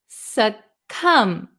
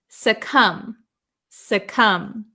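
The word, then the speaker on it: succumb: this word is pronounced s come there is no B sound suum suum s come the B is silent the B is silent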